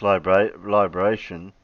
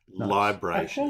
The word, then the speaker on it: libration: Is it pronounced liberation? Libration. It's not liberation, it's liberation. Yeah. He added an extra E in there, I think.